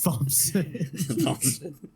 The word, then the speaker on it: Thompson: Thompson. Hey, you guys! It's that semi-silent P at the last. Apparently, it's that silent H that's the problem. The silent H.